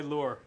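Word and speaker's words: Luhr: Are you a fisherman or why lure? Well, my real name is pronounced Lure, but it's spelled L-U-H-R.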